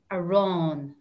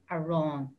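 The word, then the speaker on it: arán: good morning so the word for bread is a wrong a wrong ar a with an accent and a ron so eat bread alex would be a ron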